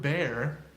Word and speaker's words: bear: word fantastic nice no the next word bear bear rhymes with can think of it like bear and hair why not even they're spelled differently bear hair bear bear hair good thing because bears